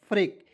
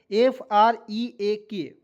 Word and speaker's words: freak: मैंने आपको बताया था, जब दो वॉवेल ई ए और ए जब भी एक साथ आएगा तो एक जो वॉवेल होता है दोस्तों साइलेंट हो जाता है, ठीक है। तो FR से लिख दीजिएगा फ्रॉ, ई से ए की मात्रा, और के से होता है क, फ्रेक, FREAK, फ्रेक, ठीक है। फ्रिक नहीं पढ़ेंगे।